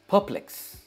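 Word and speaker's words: perplex: सबसे पहले इसकी प्रोनंसिएशन, यह है परप्लेक्स। परप्लेक्स इसे कहेंगे, परप्लेक्स। यह परप्लेक्स नहीं है, परप्लेक्स। इसमें अ साउंड आता है, परप्लेक्स एंड नॉट परप्लेक्स। पर ये आर बहुत मतलब प्रोनाउंस होता ही नहीं है।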